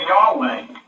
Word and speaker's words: Yahweh: Now, the ancients pronounced this YHWH, and God had the name of Yahweh.